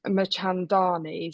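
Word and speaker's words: Mirchandani: this and it's the I'm not going to pronounce it correctly. It's Machandani.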